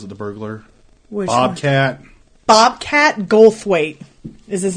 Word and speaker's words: Goldthwait: the burglar Bobcat Bobcat Goldthwait is his name and there's a th in there because I always mispronounce it it's the coolest name